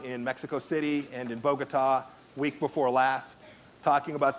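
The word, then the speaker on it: Bogotá: Pompeo needs to know is it's bogota accent on the last syllable not bogota the second thing he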